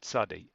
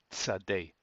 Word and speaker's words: Tsade: um concerning the pronunciation well the pronunciation of this is a t sound a t sound just as uh you would pronounce in the word cats this part here of the word cats but we're going to use that instead to uh begin any word that begins with a Sade Sade Sade like that so that's a pronunciation